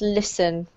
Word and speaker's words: listen: This is really a silent T, so it's pronounced listen.